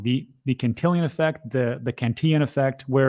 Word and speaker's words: Cantillon: The Cantillon effect, the Cantillon effect, where No, the Cantillon effect, you said it right.